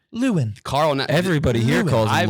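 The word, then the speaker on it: Lewan: I didn't know how to say Taylor. It's Lewin. I thought it was Luan. Wait, what? I checked You Google do and it too? I clicked the mouth. Lewin.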